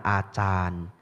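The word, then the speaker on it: Ajahn: gurunya bantai Acan Bram Acan artinya guru ya ditulis pakai j sebenarnya bacanya C Itu bahasa Thai bahasa yang benar adalah Acan hanya panjangnya a yang kedua panjang Acan ya nah jadi ada satu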